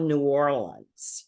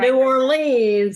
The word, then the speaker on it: New Orleans: We're like that about New Orleans. Oh yeah, It's I'm not sure New Orleans, it's New Orleans.